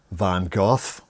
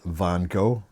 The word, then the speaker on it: Van Gogh: It's a brand, the British, they pronounce it Van Gogh. The Americans pronounce it Van Gogh. But apparently it's meant to be pronounced Van Ha.